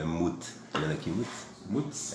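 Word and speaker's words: מוּת: É mut.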